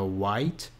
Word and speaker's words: white: rafael então é ficar white white também apesar de ter-se e no final ou essa última sílaba é bem suave também não é o haiti